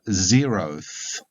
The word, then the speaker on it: zeroth: for example would become zeroth sometimes a schwa vowel is inserted in place of the last vowel zeroth 112 would become 100